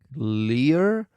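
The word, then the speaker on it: Lire: this week I think it's a French name so I'm sorry if I'm going to mispronounce this it's called I think Lear I'm pretty sure from the about page of the app it's l i r e that it means to read in French anyway this app I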